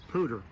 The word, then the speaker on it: pooter: how to make one an insect pooter sounds like the word peashooter and what you need